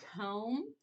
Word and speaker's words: comb: Okay, so comb, it's a B at the end. That MB. Okay? So the MB, the B is silent, so it makes that, but it still makes that sound.